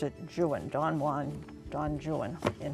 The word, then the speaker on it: Juan: Don Juan, or in his poetry, he would have pronounced it Juan.